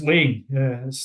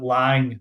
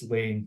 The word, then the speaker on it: Laing: yeah dou fling and it is pronounced laying for anyone in the group that ever pronounces it lying I'm afraid it's wrong laying it's one clear thing